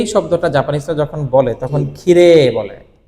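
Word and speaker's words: きれい: এবং ইউমে শব্দটাকে জাপানিজ যখন কথা বলে তখন ষিরেই না বলে বলে ষিরে ষিরে ইমে ইমে এই যে মে এর পরে ই না বলে এ বলে যদি উচ্চারণে যেহেতু এ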